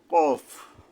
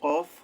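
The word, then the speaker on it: ق: হওয়া লাগে কারণ কি এই উচ্চারণটা হলো হলকের গোড়া থেকে আসবে অর্থাৎ জিহ্বার গোড়ার থেকে মোটা ভাবে আদায় হবে কফ গোড়ার থেকে জিহ্বার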